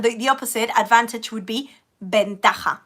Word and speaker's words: ventaja: And the opposite, advantage, would be ventaja, with a V, even though I pronounce it like B, ¿vale?